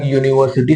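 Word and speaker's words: university: यह रूल नहीं पता यूनिवर्सिटी शुरू तो यू से हो रही स हा शुरू तो यू से हो रही है लेकिन पढ़ने में उच्चारण य से शुरू हो रहा है तो तो दौड़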